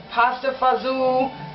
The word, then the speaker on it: pasta fagioli: today i'm making some pasta bajoli there's different ways of pronouncing it you can call it pasta fazoo it's pasta and beans